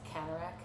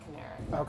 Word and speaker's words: Canarak: It's Canarak, not Canary.